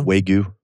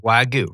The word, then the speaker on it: wagyu: great oh my goodness is that how you pronounce that wow yeah way goo they say wagon why goo i mean i'm a white guy from michigan i'm gonna say wag you i'm just saying you're